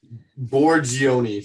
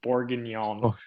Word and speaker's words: bourguignon: the other day um borgioni final answer it's something i'm taking it that's just pronunciation it's beef bourguignon yeah yeah all right